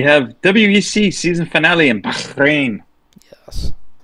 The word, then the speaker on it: Bahrain: Paperclip, and we have WEC season finale in Bahrain. Yes. How do you say it one more time, Sean? Bahrain. Bahrain?